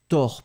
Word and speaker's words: tors: So, tors pas tes bas. Attention. Tors pas tes bas. So the tors, one more time, it's like tors. So the O is slightly different.